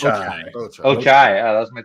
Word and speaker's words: Ochai: So grabbing, is it Ochi? How do you pronounce it? Ochi? I believe it's Ochai.